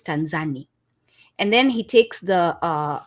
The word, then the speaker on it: Tanzania: therefore it's tanan and in kiswahili we pronounce as it's written so it's t a so as long as you're saying Tanzania you you're not pronoun